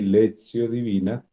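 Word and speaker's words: lectio divina: es la lecio divina en latín se pronuncia así lexio divina y significaría lectura Orante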